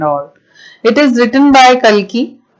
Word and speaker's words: Kalki: It is written by Kalki एंड काल्की भी कई लोग इन्हें प्रोनाउंस करते हैं और एक है तो